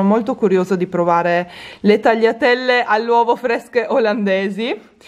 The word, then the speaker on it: tagliatelle: poi ho preso le tagliatelle all'uovo ragazzi che qui pronunciano taggia telli mi fa morire la pronuncia che hanno qua ho cercato di spiegare